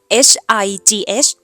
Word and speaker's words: high: ต้อง ตก ใจ ค่ะ ถ้า เห็น 3 ตัว มา ด้วย กัน แบบ นี้ ออก เสียง ไป เลย ว่า สระ ไอ นะ คะ ถ้า มี ตัว ตัว